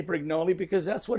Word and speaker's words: Brignole: right so I mean theoretically it should be Brig no but it's right to say brignoli because that's what it's always been since I